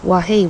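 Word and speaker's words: Wawa: go to right so we're in wahah or as it's pronounced wahi wahi now we're going to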